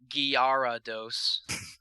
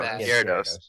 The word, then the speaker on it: Gyarados: I there you can get a shiny Red garados gados Gyarados there you go Gyarados that in it's either it's either oh it's